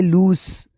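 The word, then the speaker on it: loose: number पहला जो है वह है लूस जो कि L double O एस ई है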